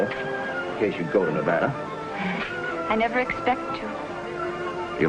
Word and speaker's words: Nevada: a man from Nevada by the way that's pronounced Nevada I notice you give it the broad ah I prefer it to a dreadful flat a only the Dreadful flat a is correct among the natives perhaps I just thought